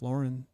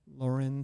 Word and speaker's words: Lauren: Like for instance, there's a line of products from, I might not be saying it correctly, Ralph Lauren. Some people say Lauren, whatever. But I think it's Loren. Okay.